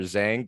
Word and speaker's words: Zheng: today we have a really cool guest victor zhang did i pronounce that right correct yes well victor welcome